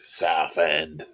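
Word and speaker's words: Southend: It's how I pronounce it, too. South End.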